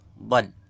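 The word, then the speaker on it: ض: Kemudian kelompok yang kelima adalah kelompok zalaqiyah, pinggir lidah, yaitu keluar dari tepi pangkal lidah sebelah kanan kiri, sebelah kanan atau kiri, dan menepati gigi geraham. Nomor 8. Mana nomor 8? Hurufnya hanya satu ya, yaitu bad.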